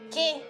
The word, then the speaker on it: que: However, if you see the UE combination after a G or a Q, it does not have this sound. You only pronounce the E. For example, juguete, que.